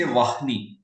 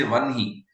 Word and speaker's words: Vahni: So when it is a word like Prahlada or Brahman or Vanhi, so we will write Vahni, but we won't say Vahni. We will say Vanhi or Brahma.